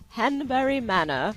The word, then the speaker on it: Hanbury Manor: cool office space for Jags am we're at henbury Mana I'm told to pronounce it like that by Brian SE um